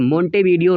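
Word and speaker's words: Montevideo: जिस दोस्तों मांटेवीडियो यहाँ पे लिखा हुआ है, लेकिन मोंटेवीडियो होता है।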